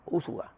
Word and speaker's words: Úsuga: Fue capturado Dairo Antonio, se llama Úsuga, porque lleva acento en la U. Sí. Úsuga. Yo decía Úsuga, pero uno se llama como lo llaman. Pero este lleva acento en la U, Úsuga.